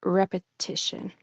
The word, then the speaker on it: repetition: And then here it's repetition. It's like it.